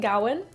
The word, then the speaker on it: Gawain: and note on pronunciation I'm pronouncing it Gowan GN Goan there's lots of ways to pronounce it nobody seems to have a consensus on what is correct so we're going to